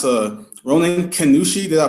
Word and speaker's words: Ronin Kannushi: gonna have a little chat his name is pronounce a Ronan Kushi did I pronounce that correctly yes okay sounds